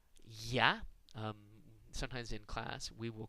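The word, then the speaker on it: Я: do that, the letter Ya. Sometimes in class, we will call it the kids are us letter. It looks like an R that's backwards, and it represents the sound Ya.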